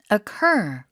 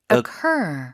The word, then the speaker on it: occur: 약간 이런 말 할 때 어 suchc ur 자 강세 뒤에 발음이요 occur occur occur 강세 quite frequently 제법 자주 발생한다는 그런 거라고 볼 수 있겠다.